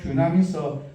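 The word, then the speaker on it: δύναμις: 권능으로 번역된 헬라어인 이 디나미스 발음을 잘해야 디나미스 다 비슷한 것이지만 영어로는 파워라고 번역된 부분이 많습니다.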